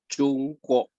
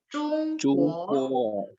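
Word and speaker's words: 中国: Jadi 国 nada 2 digantung di atas ya.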